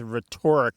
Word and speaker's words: rhetoric: Yeah, because I don't believe that the pronunciation of it as rhetoric was ever a word on its own.